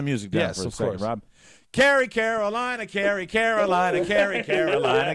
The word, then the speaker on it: Cary: a great town and incidentally kerry north carolina is spelled exactly the same way that rob's wife's first name is spelled that's right c a r y kerry and i do believe